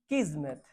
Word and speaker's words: kismet: Fate, destiny, किस्मत, KISMET, KISMET, Z नहीं है। प्रोनाउंसिएशन किस्मत है, पर स्पेलिंग KIS है। किस्मत नहीं पढ़ते, किस्मत पढ़ते, इसलिए प्रोनाउंसिएशन सही होना चाहिए, ठीक है।